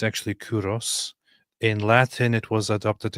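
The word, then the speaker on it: Κῦρος: Modern Persian is Kurosh. But from Kurosh into Greek, it was adopted as Kuros. So in Greek, it's actually Kuros.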